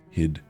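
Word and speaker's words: Hygd: Hid. We're going to call it hid and pretend that G is silent.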